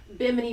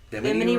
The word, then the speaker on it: Bimini: watch Graham Hancock's Ancient Apocalypse, it talks about Bimini Road and how it goes right off of